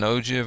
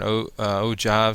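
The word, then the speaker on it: ogive: Some other ones that we see, this is an ojiv or an ojive. Some people pronounce it uh that way.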